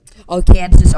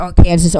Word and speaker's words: Arkansas: And it's called La Petite Roque, which is French, which is also who we have to thank for the pronunciation of Arkansas. Yep. So I think that's gonna about wrap it up. Arkansas, Arkansas, Arkansas, Arkansas, Arkansas.